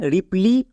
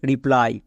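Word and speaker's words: reply: জন্য হস্তিকার হবে তাহলে এখানে রিপ্লি হওয়ার কথা ছিল বাট এর উচ্চারণ হচ্ছে রিপ্লাই কেন ওয়াই এর জন্য আই কেন হচ্ছে কারণ উপরে দেখো ব্যতিক্রম লেখা আছে মানে রুলস ফলো করবে না তাই এই দুটো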